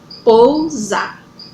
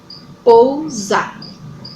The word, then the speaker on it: pousar: Pousar. Pousar. Preste atenção que o som que sai é o som de Z. Então, se é o som de Z que sai, então essa minha palavra é escrita com S, certo?